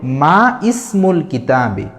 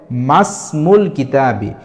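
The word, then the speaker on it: مَا اسْمُ الْكِتَابِ: উচ্চারণ এখানে উচ্চারণ হবে মাসমুল কিতাবি যদিও ইসমুনের আলিফ লেখাতে আসে কিন্তু এই ইসমুনের আলিফের আগে যদি কোন হরফ বা শব্দ থাকে তাহলে এই ইসমুনের আলিফটা লেখাতে আসবে কিন্তু উচ্চারণে আসে না এই জাতীয় আমাদের একটা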